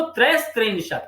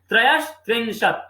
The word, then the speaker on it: त्रयस्त्रिंशत: अब 32 को द्वात्रिंशत, 33 को त्रयस्त्रिंशत, उच्चारण सही कीजिएगा, अक्सर हम लोग यहाँ गलत करते हैं, त्रयस्त्रिंशत अर्थात सहलंत प्लस त्रिंशत है, ठीक है।